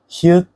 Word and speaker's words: 히읗: 히읗 is a sound similar to H.